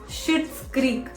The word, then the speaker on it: Schitt's Creek: It is called as, wait, I'm going to pronounce it and I'm going to spell it also in front of you. It's Schitt's Creek. It is SCHITT. Yes, it's pronounced like that.